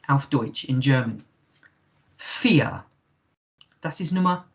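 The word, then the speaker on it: vier: alph deutsch in german fear that is number fear remember uh a v in german is pronounced with a f sound so fear and uh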